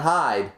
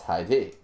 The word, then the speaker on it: Hide: in case anybody's wondering my pronunciation of that name it's not hide hide is hide and seek that's an English word when it's in Japanese you know it's hide I know that one